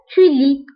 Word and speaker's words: tu lis: مثلا tu lis, آخر حصة تعرفنا فيها على لو فيرب lire وقلنا je lis, tu lis, ما كنطقوش S.